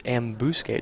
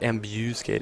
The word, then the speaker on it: ambuscade: and pick some nits it's ambuscade not ambuscade say it again ambuscade ambuscade yeah okay emphasis on the first second well and specifically not a not a bu but a b sound it's not amb skate it's SK wow you really are